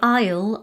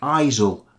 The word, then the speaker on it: Isle: notice the pronunciation because quite a few of our students pronounce the S in Isle and Island like aisel and Iceland it's a silent consonant but we did a